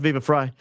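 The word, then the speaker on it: Viva Frei: Uh Viva Fry is pronounced Viva Fry.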